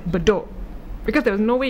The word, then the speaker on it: Bedok: Even no matter how hard you try to phonetically spell it. Yeah, it doesn't work. It's bedok.